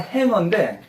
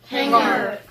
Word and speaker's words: hanger: 원래 정확한 발음은 행어인데 우리나라 사람들은 지 발음 그냥 해가지고 저 행거라래.